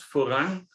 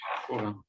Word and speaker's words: foram: que é o da vida, e os mortos foram julgados pelas coisas que estavam escritas nos livros, segundo as suas obras.